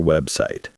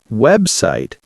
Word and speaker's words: website: The word website has two clear syllables. Website. Make sure to say the B sound softly.